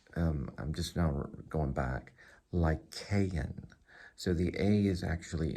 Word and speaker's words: Lycaon: Lycaon. So the A is actually in it. Lie is in it, so you can think of, you're talking to me about a werewolf, that's a lie.